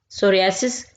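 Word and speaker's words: psoriasis: जाता है सोरियास सोरियास सोरियास यहां पे पी जो है यह साइलेंट होगा इसको नहीं पढ़ेंगे ठीक है ये एक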